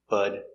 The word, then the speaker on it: but: Pronunciation, but I pronounce bud, bud. The T is between two vowels. The T changes to a D sound, bud.